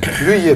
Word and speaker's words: Luyer: André Luyer, j'ai bien prononcé, c'est Luyer ? Luyer, pardon, il a fallu vérifier.